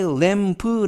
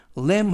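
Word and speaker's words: lamb: 되겠습니다 헤 valet fm 이때 왬 브 라고 하지 마시고 b 발음 매 끝에 b 발음은 묵음 이에요 그래서 왬 램 하면 양고기 라는 뜻입니다 그래서 해부 유이 특례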